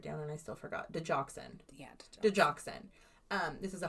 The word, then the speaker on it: digoxin: Digoxin.